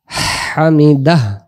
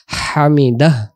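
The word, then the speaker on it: حمده: সামি আল্লাহু লিমান হামিদাহ হামিদাহ। বাংলাতে হয়াকার হা, ময়রিশিকার মি, হামিদ দয়াকার দা, আর একটা হ দিলে যেমন হয় হামিদাহ, অর্থাৎ হায়ের উচ্চারণটা ভেসে উঠাইতে হবে।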